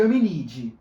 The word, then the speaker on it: Hominidae: Se escreve Pongidae, se escreve Hominidae, mas se lê Pongide e Hominide.